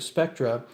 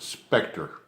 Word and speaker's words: SPCTRE: and as far as the ghost hunting group spectra how did it first begin like how did spectra first start off well first of all we pronounce it Spectre Oh Spectre yes no no that's okay that's